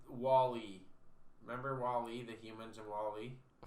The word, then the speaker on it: WALL-E: Wally. It's Wall-E. It's spelt like Wall-E, but he's pronounced like the name Wally. Like Walter.